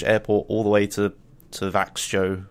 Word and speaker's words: Växjö: He drove me from a Swedish airport all the way to Växjö, or Växjö, as you'd say it properly, where the event was held.